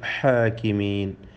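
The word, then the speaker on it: الحاكمين: ബി അഹ്കമിൽ ഹാകിമീൻ, ഹാഇൻ്റെ ഉച്ചാരണം പ്രത്യേകം ശ്രദ്ധിക്കുക. മഖ്റജ് തൊണ്ടയുടെ മധ്യമാണ്, തൊണ്ടയുടെ മധ്യത്തിൽ നിന്നാണ് ആ അക്ഷരം ഉത്ഭവിക്കുന്നത്.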